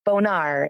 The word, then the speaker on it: Bonar: It's Bonar. It sounds like fancy French instead of very close to a dirty word.